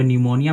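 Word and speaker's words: pneumonia: आया, पी आया है, तो वहाँ पे हमारी जो पी अक्षर होती है उसका उच्चारण हम बिल्कुल नहीं करते, वो साइलेंट होती है। देखिए साइलेंट हो गया, हम इसको न्यूमोनिया पढ़ते हैं, इसको साइकोलॉजी पढ़ते हैं, ठीक है।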